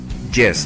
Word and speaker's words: yes: palabra yes yes yes la pronunciamos poniendo la lengua cerca de nuestro paladar no decimos y Yes no decimos así decimos yes yes yes yes que significa sí